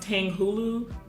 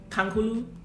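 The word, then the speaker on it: tanghulu: is obviously candied apples and I think it's pronounced Tang Hulu Tang Hulu Tang Hulu and those were delicious so maybe we should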